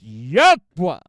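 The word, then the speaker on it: YHWH: FOUR LETTERS Y HW which we pronounce Ywa which we will be using exclusively my brothers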